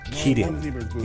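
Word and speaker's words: キリン: The giraffe, or in Japan, is pronounced Kirin. You know, like Kirin Ichiban, the beer.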